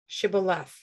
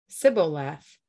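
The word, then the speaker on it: Shibboleth: i'm not they would tell him to say shibulef if he was from ephraim he would say sybil laugh because people from ephraim cannot pronounce the word correctly then they would take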